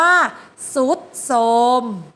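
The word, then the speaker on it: ทรุดโทรม: โซ่ ก็ เป็น sawi ออ ทราย แม่ ขา ต่อ ไป เรา มา ดู ตัว อย่าง ภาพ ที่ สอง คือ คำ ว่า ทรุด โทรม ทรุด โทรม เห็น ไหม คะ ทรหาร กับ รอ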